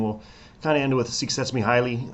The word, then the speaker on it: Csikszentmihalyi: kind of end with suets me highly um which is how I believe he can pronounced his name U who's been around